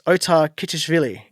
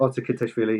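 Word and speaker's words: Otar Kiteishvili: It's Otar Kitishvili. That's how I've decided to try to pronounce it. How badly have I incorrectly said that one? Yep, that's fine. No, perfect. Otter Kitashvili, yeah.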